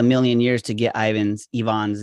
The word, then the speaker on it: Ivan: i'm talking to you from portugal lisbon so yvonne right yes i get because you know my